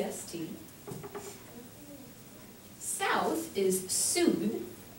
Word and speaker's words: Sud: or S excuse me e EST South is Su s u and then West is West pronounced West but spelled o u s t